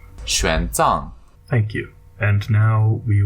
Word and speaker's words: 玄奘: This is how you pronounce our monk's name. 玄奘 Thank you.